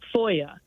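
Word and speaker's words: FOIA: uscis.gov ffrank oi a that's called freee Freedom of Information Act or Foya great is how I would pronounce it okay it was established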